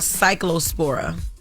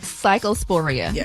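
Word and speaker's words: Cyclospora: and it's called Cycllospora. Yes. Psychosporia. Absolutely. Official say bad about pronunciation. No. Yo, chill. Yo, please just relax. This is cycllospora.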